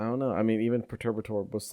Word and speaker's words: Perturbator: I probably didn't say that name at all, but Perturbator, yeah, that's definitely how you say it.